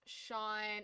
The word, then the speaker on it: Sean: um it's the equivalent of John and is pronounced Sean it's with s h a WN it's a